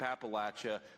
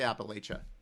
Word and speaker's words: Appalachia: who settled in Appalachia, I say Appalachia. I'm from Northeastern Ohio and JD is from central Ohio. So, uh, the vice president pronounces it differently than I do, but it we know